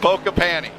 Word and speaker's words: Pokepani: Pokepani. Yes, sir. Like, Micah think of Pokepani. poking your panties, but without the T.